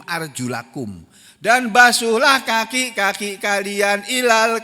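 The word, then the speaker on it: أرجلَكم: Padahal bunyin ayatnya bukan arjulikum. Arjulakum.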